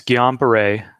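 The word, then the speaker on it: Guillain-Barré: going on here yeah so you're close it's gone baray syndrome so it's pretty close you don't really pronounce the end there's but it's pretty good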